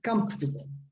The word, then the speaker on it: comfortable: it's comfortable comfortable yeah the stress is on the first syllable on the left right comfortable so the sim that the syllable in the middle almost disappears comfortable huh okay good very